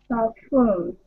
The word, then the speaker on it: perfumed: Perfumed. So, it looks like perfumed, but it will sound like the letter U, the word U, Y-O-U, perfumed in the middle. Perfumed.